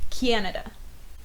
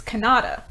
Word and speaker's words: Kannada: saying it wrong okay how do you say it that's like it's Kannada guys with